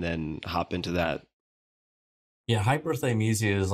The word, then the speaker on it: hyperthymesia: I want to take a pause here just for a second to ask you about, tell me if I'm pronouncing this correctly, hyperthymesia.